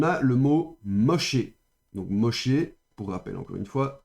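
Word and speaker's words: משה: Et pour rappel ici normalement on devrait avoir le avec le point di critique pour attester que c'est un chine.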